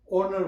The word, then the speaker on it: honour: गर्छ हैन त्यसरी नै HONOUR यसलाई उच्चारण गर्दैन ओनर भन्छ हैन त्यसरी नै त्यो